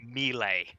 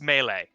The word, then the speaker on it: melee: him he's my image I have never heard anybody pronounce it melee it's melee we say melee damn the French merely in French my mother has a masters in French literature so she gave me